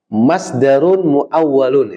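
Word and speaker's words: مصدر مؤول: Masdarun muawwalun, itu bacanya gitu.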